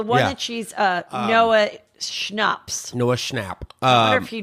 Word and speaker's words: Schnapp: his name is drinks it is schnapps isn't that how you spell schnapps the elk like the drink okay like peach like a